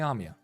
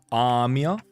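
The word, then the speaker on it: Amiya: Please just call me Amy. By the way, it is it is indeed Amia, not Amy. It's a long a manager of Limbus company.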